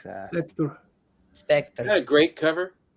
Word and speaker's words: Spectre: Spectra. Spectra? Yeah. It's actually Spectre. Spectre. Okay. Yeah, it's just kind of like the British spelling. They're weird. Spectre. That one's a great one. Theatre. I like that. Spectre.